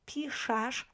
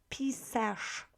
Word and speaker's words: piszesz: It's easier to pronounce piszesz than pisesz, really. So even if you try to say it, pisesz, and then piszesz, it's easier, right?